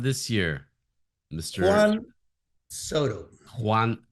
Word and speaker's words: Juan: Juan. I call him Juan, like the number one.